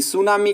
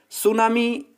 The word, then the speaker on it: tsunami: का प्रयास करते हैं सुनामी एक जापानी शब्द है जिसमें दो अगर इसका विभाजन करें तो टीएसयू थी साइलेंट है सू सू का मतलब होता